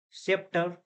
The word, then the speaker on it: scepter: Here C silent. Scepter.